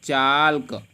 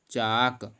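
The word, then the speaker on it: chalk: इसी प्रकार से चाल्क। चाल्क लिखा है, लेकिन इसको हम एल नहीं पढ़ेंगे, क्योंकि नियम है अगर के से पहले एल आया है तो आपका एल साइलेंट हो जाएगा। इसको हम पढ़ेंगे चाक।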